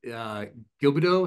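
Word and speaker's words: Gilbeau: And one guy close to the top here, Rear Admiral Robert Gilbido. Is that how you say it? What? Gilbo, that's right.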